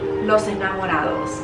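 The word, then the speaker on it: los ángeles: up here this is especially los angelos right that's how you say it in spanish in french this is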